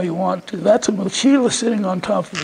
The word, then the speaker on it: mochila: So, and it, mochila is M-O-C-H-I-L-L-A, and the L-L isn't pronounced you, it's pronounced la. Mochila, and it's Spanish for backpack.